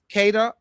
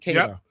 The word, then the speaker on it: Queta: Nius Queta Kada, that's how you pronounce it. Kada.